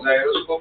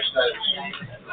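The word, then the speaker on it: gyroscope: हाँ जायरोस्कोप, बरोबर सही बोल रहे हैं। तो लोग उसको गायरोस्कोप भी बोलते हैं। हाँ पर वो गायरोस्कोप नहीं होता, वो क्या होता है जायरोस्कोप।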